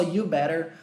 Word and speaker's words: you'd better: Você falou só you better, I better, we better. Parece que você nem pronunciou o D. Pois é, esse D, ele é bem levinho mesmo. Ele é bem sutilzinho, ele é quase inexistente.